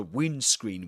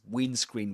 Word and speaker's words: windscreen: And in the word windscreen, you don't pronounce the D.